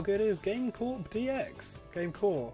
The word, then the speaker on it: GameCorp: GameCore. I think the P is silent.